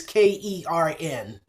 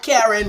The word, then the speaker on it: Karen: The way they say it is Kern. Okay. This is the Southern drawl version of my name. Not Karen, but Kern.